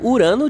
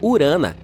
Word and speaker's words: Urano: não Fer bem bem Estamos chamando Urano de forma errada todo esse tempo os astrônomos dizem que deveríamos pronunciá-lo como urana no entanto não posso